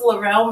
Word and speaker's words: Lorelle: Yeah, so it's Lorelle Monet.